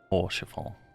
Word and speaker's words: Orchefort: Orchefort. Orchefort. T is silent.